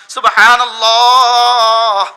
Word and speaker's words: সুবহানাল্লাহ: শেষে একটা হা আছে হা। হাটা বাতাসে ছেড়ে দিতে হয়। হা বাতাসে ছেড়ে না দিলে উচ্চারণ এটা আলিফ হয়ে যায়। যেমন আমি বললাম সুবহানাল্লাহ সুবহানাল্লাহ সুবহানাল্লাহ হাবা হাত হইছে এখন